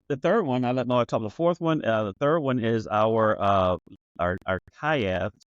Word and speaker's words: Khaev: The fourth one, the third one is our Khaev, Khiev. It's a Hmong word, Asian Pacific word, meaning to evacuate. It's a detox drink. Evacuate. Okay. Yeah, it's pronounced Khaev.